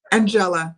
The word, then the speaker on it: Angela: Angela. Think Ella, and it's just Angela.